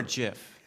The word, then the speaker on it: GIF: o n elocution this is it gif or GIF it's GIF hard G let's settle that right now it's